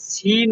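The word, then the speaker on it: zehn: আপা বলছিলাম হচ্ছে 10 কে যে সেন বলে, কিন্তু এই যে টিকটক শেষেতে ওইখানে সিন মনে হচ্ছে কানে। এটা আসলে সঠিক উচ্চারণ কোনটি হয়? না, ওখানে আমার সেন, ঠিক আছে, এর বিকল্প নাই, সেন।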